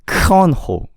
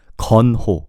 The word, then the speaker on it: Keonho: You have to think of it as G instead of K. So it's not 건호. Do you get what I'm saying? There's no K. There's no K sound. It's 건호. G-U-N. gun, you know, gun. 건호. Ho is just ho.